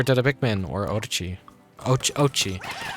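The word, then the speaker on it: Oatchi: Ochi. Not Odachi. I think I like accidentally kept pronouncing it Odachi in the demo. I'm like, oh, it's oats, like oats.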